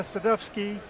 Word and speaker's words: Sadowski: Palo Alto Networks, and Gorka Sadowski, although spelled with a W, but of Polish extraction, who's Director of Biz Dev for Security at Splunk.